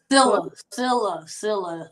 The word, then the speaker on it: Sillia: Sillia. The last I is silent, so it's pronounced Sillia.